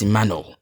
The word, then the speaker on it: Emmanuel: I do not I I don't ever call myself no it's emmanu and if you don't pronounce the null like null like your tongue bends like into an arc shape null iy um anyway